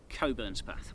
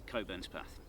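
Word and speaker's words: Cockburnspath: I'm fairly confident I do know how to pronounce this one. Coburn's path. Yeah. Yeah. A lot of people split it up in the wrong way. Yep. Yep. But it is Coburn's path.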